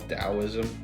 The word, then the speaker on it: Taoism: I learned this organ anatomy meditation from I think it's called Taoist, or it's spelled with a T, but it's called Taoism.